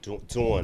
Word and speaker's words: Dawn: Sound like you said Don. Oh, Dawn. Dawn. You gotta say it right. Shout out to Dawn Staley. Dawn. Don is a boy. Dawn is a girl.